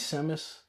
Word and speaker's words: Samus: It is Samus. Some people might pronounce it Samus. Samus. It's Samus to me.